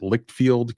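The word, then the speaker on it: Leitchfield: comes to us from I believe it's pronounced lickfield Kentucky which is in Grayson County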